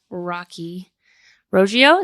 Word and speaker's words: Rocky Roggio: So here we have Rocky Roggio. Is that right? You got it.